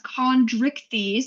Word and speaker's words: Chondrichthyes: They're the class Chondrichthyes, that is how you pronounce that term.